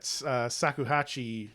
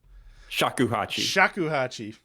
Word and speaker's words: shakuhachi: Get that Sakuhachi. Am I saying that right? Shakuhachi.